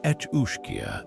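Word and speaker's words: each-uisge: its freshwater logs, the each uish pronounced etchia, this water horse was a shape-shifting predator of unparalleled cunning and malevolence.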